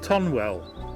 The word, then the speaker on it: Tonwell: us into the Tiny Village of tonwell or tunnel as it's locally pronounced foreign about